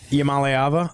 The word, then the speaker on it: Iamaleava: Iamaleava? Luckily, I'm a leaving? Yeah, how perfect is his name is basically I'm a leaving.